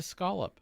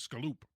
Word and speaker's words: scallop: Like I don't pronounce it scallop. It's a scolop. Oh. How do you pronounce it? Oh. Uh, I pronounce it as scaloop.